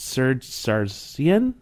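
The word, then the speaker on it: Serzh Sargsyan: of the president elected wrong I apologize it's Ser Saran is that how you say it yeah um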